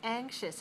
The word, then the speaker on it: anxious: those are adjectives anxious anxious has two syllables where's the stress first one right okay watch me watch